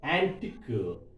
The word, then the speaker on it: antique: My dear students, here if you see IQE, antique, last syllable, tick, critic, boutique, oblique, unique. So last syllable we have to stress.